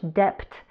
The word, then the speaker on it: debt: I'm just in so much debt right now. Debt has a silent B.